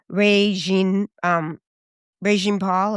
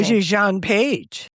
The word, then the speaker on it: Regé-Jean Page: You, Me, and Tuscany with Regine Paul, or how do we say his name? Regé-Jean Page.